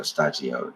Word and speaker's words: Shtajio: the Japanese pronunciation was studio stagio, and I just put it together. So stagio, it's like it's like a Japanese word and studio mixed together.